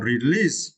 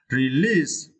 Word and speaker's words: release: and we have another release we developed right and you can see we should stretch the second syllable Li release release Reverb right it's meant